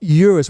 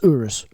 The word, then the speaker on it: Urus: so the thing about Euros which I always find is Urus yeah it's not uterus it's Urus sorry Mr Italiano first